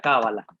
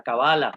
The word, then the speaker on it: cábala: El árbol de la cábala, o de la cabala, o de la cabalá, que se puede pronunciar en cualquiera de estas formas.